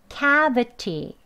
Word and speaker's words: cavity: 이제 원어민들은 이 T 발음을요. Cavity 하면 이제 하고 좀 소리가 거친 소리지요. 그래서 부드럽게 대화할 때는 이 소리를 좀 부드럽게 합니다. 그래서 어떤 소리까지 나느냐면요. 이 트 소리가 르, 르, 르, 리을에 해당하는 소리까지 나요.